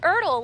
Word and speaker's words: Ertle: I said Ertle, like turtle.